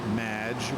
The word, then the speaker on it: Madge: It's Madge, which rhymes with badge.